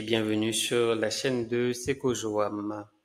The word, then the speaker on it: Sekojoam: Hello, bonjour à tous et bienvenue sur la chaîne de Seko Joam. Ça se prononce bien comme ça.